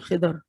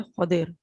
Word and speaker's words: خضر: دعات کے نیچے زیر، ہم الٹ بولتے ہیں، ہم بولتے ہیں خضر، اور وہ اتنا زبان پہ چڑھا ہوا ہے کہ اس کو بولنا مشکل لگتا ہے زبر کے ساتھ، لیکن صحیح تلفظ جو ہے اس لفظ کا ہے خضر، خاء کے اوپر زبر اور دعات کے نیچے زیر، خضر علیہ السلام۔ اور